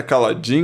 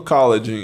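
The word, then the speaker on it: Kaladin: A pronúncia certa é Caladin. Não sei você ficou vendo, não sei. Eu vi bastante gente falando Caladin.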